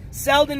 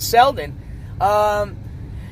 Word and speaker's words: Selden: Selden is spelled S-E-L-D-E-N.